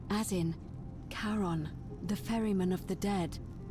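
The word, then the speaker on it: Charon: It's just as you described it, only your pronunciation is a little off. The name you heard wasn't Karen Kirth, which was C H R O N, as in Karon, the fairyman of the dead.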